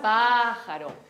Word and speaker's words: pájaro: Y las palabras esdrújulas tienen acento en la antepenúltima sílaba. Por ejemplo, pájaro.